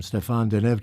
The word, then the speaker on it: Stéphane Denève: will be conducting here this week we welcome Stefan denev to our studio the first of what we